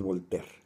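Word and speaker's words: Voltaire: al decirle franois perdón si no lo sé pronunciar es volter a volter se le atribuye una frase que le ha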